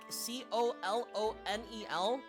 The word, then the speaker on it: colonel: Think of like words like kernel, right? The C O L O N E L pronounced colonel like the corn.